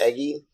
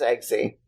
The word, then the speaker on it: Eggsy: Eggy?